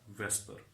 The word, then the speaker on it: VSEPR: And this acronym VSEPR, it is pronounced as the Vesper.